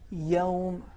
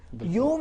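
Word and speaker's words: يوم: ہو تو ہمیں اس زبر کا خیال رکھنا چاہیے. ایسا نہ ہو کہ وہ زبر پیش میں بدل جائے، یوم نہ ہونے پائے. مالک یوم الدین نرمی کے ساتھ، ایسا نہ ہو یوم، یہ تلفظ کو خراب کر دیتا ہے.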